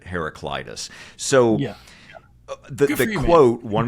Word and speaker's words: Heraclitus: I was pronouncing it for years as herac Cletus and what I did I did is I used I did a Google Search and pulled up some YouTube videos of different ways of the pronunciation hearing different leaders let's say and anyway the majority of them who are you know well schooled let's say in this area we're pronouncing it heraclitis so the the quote